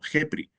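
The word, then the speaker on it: Khepri: relaciona con el dios Kepri, pronunciando más o menos como Jepri, nombre manejado renglones arriba,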